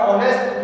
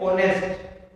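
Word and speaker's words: honest: जैसे ये आपका ऑनेस्ट जो वर्ड है, इसमें जब आप इसका प्रोनाउंसिएशन करोगे तो इसका जो फर्स्ट लेटर है ना एच, उसका साउंड रिलीज नहीं होता, वो साइलेंट रहता है, और हम इसको क्या पढ़ते हैं ऑनेस्ट, क्या पढ़ते हैं ऑनेस्ट।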